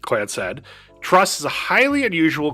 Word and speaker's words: Clancy: The clan said, pronounced clan said, Trust is a highly